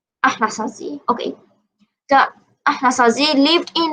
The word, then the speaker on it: Anasazi: One of the early farm cultures in the Southwest was the Anasazi, pronounced Ahnasazi. Ahnasazi. Ahnasazi.